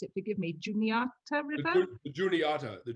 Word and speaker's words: Juniata: the way that the river, and I can't pronounce it, forgive me, Juniata River? The Juniata River, yes.